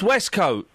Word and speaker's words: waistcoat: hang on the beauty the beauty of the English language is some words is not pronounced like what they are written westcote that's wescoat know if you could